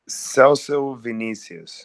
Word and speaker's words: Celso Vinicius: Celso Vinicius.